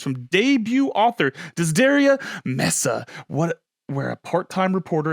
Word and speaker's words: Mesa: like it is Mesa Mesa like table but I love how